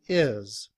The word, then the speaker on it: his: However, in reduced form, we don't pronounce the H. We just say is.